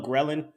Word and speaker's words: ghrelin: it's pronounced ghrelin, and I always remember it because I think about a gremlin, because the gremlins ate everything, right?